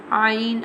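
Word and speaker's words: ع: Ain. Ain pronounced from the middle part of throat.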